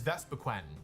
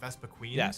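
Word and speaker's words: Vespiquen: Number 580 is Vespaquen. Did you all know it's spelled Vespaquen, not Vespa Queen?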